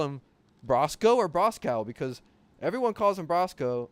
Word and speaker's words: Brosko: of been like was Brosco I say Brosco because that's how he pronounced his name in some video Ben